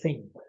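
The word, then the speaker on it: Synge: I think it's Sinch, written as Sinch, but pronounced as Sing.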